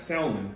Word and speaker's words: salmon: It's not salmon, it's salmon. That L is silent, people.